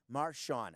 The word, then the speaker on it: Marshawn: get the first name right khoka can you pronounce his first name please I got it right Marshawn I just you know Lynch the guy with